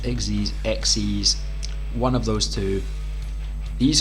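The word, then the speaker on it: Xyz: of monster called an Exeiz monster. It's spelled X Y Z, but it's pronounced Exxes.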